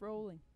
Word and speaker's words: Rowling: she's rolling she's angry that's pronounced rolling well when she's in rouse i say rao rowling yeah jk rowling yep come